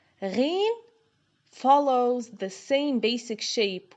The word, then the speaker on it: غين: From the back of the throat, the sound is similar to the R found in French, like the letter R.